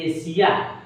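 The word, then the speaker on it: Asia: सबसे पहला नंबर पर क्या लिखा हुआ है एशिया ए एस आई एशिया एशिया जो है एशिया महाद्वीप है और उसके बाद में आगे जो लिखा हुआ है रशिया तो देखिए एशिया आई आया की नहीं यहां पर लास्ट में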